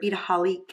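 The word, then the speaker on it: Beadaholique: I did have some videos that I did with Beataholic, or Beataholic is how they say it, go onto YouTube, and I just posted those here on Facebook if any of you guys are interested.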